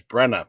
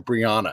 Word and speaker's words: Brenna: daughter graduated this december her name's brenna b-r-e-n-a uh i guess you could fancify that and get it wrong but they invented a whole new name for brianna brianna turner step on up so let's